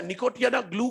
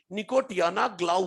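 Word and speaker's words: Nicotiana glauca: सही कर सकते हैं पहला प्लांट था निकोटिन ग्लू का नहीं निकोटियाना ग्लो का और जो nicotiya ना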